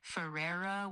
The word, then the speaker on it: Ferreira: The Ferreira part is kind of like Ferreira with a rolled R.